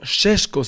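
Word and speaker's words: Šeško: Ahora yo les platiqué mucho de Benjamin Cesco la temporada pasada, la semana pasada les dije que bueno, Shesco al parecer se pronuncia, pero les dije que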